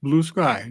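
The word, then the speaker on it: Bluesky: site doesn't capitalize the s in Sky it's pronounced Blue Sky don't rhyme it with brucei the app that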